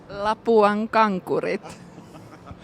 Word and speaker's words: Lapuan Kankurit: So difficult is pronouncing the brand name Lapuan Kankurit. No. Lapuan Kankurit.